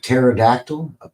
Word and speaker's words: pterodactyl: Here's their main entrance, the big pterodactyl. Is that how you say it? Pterodactyl? It's like pneumonia, right?